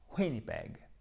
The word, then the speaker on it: Winnipeg: Donc, a postcard from Winnipeg. Winnipeg. Accent tonique sur la première syllabe.